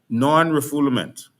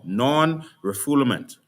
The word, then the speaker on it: non-refoulement: to a particular definition, non-refoulement. And this is how you read the law, non-refoulement. All right? Non-refoulement is the actual pronunciation. It's a French word, non-refoulement.